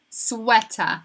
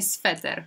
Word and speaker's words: sweater: No to pisze się prawie tak jak sweter po polsku, tylko to W wymawiamy jako W. Sweater, sweater, a nie sweter, ok?